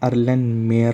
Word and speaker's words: Erlenmeyer: और इसका दूसरा नाम है, उसको हम कहते हैं अर्लेनमेयर फ्लास्क, ठीक है। इसकी स्पेलिंग है अर्लेन, ठीक है, ई से शुरू होती है, ERLENMEYER, अर्लेनमेयर फ्लास्क इसको कहते हैं।